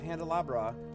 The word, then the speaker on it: Handelabra: And you can always check out the company at Handelabra on Twitter, Facebook, or YouTube. That's spelled like Candelabra, but with an H.